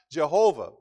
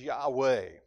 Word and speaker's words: Yahweh: The old scholars believed that the Hebrew word was pronounced Jehovah. But more modern scholars believe that the better pronunciation, the more accurate pronunciation is Yahweh.